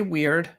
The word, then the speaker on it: Wyrd: I have heard this word pronounce both word and weird. What does it actually mean? So I say weird, and essentially what we're talking about is the equivalent of the Greek fate.